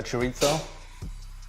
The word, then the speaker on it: chorizo: here calling it a chorizo what chorito because in spanish the i think the zed is pronounced with a fur sound really useful i think